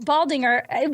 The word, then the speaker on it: Baldinger: And so Baldinger, which is how I've always pronounced it, but I was like...